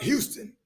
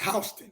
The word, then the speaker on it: Houston: going to house County Georgia it looked like Houston but it's pronounced hon I need to research to know that so